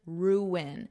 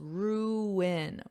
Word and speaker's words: ruin: after me for pronunciation ruin so notice there's two syllables ruin ruin and then you have